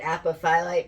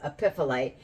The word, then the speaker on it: apophyllite: I call it apophyllite, but I'm told its proper pronunciation is epiphyllite.